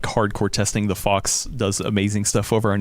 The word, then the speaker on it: Phawx: that like hardcore testing, the Fox does amazing stuff over on YouTube. So it's spelled THEF. No, PHAWX, the Fox.